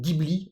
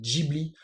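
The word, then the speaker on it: Ghibli: français on dit studio Gibli et en japonais on dit giibli alors les l'orthographe la prononciation japonaise c'est sûr et certain c'est Jibli en français on peut dire les deux mais de base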